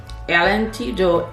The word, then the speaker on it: L'Antidote: This is the Givenchy, I'm going to pronounce it in Creole, which will sound a lot like French, okay? This is the Givenchy L'Antidote et de Parfum Rouge, and that's this right here.